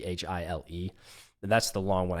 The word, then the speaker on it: Chile: Well, so there's Voodoo Child, and I think it's pronounced Voodoo Child. It's Chile.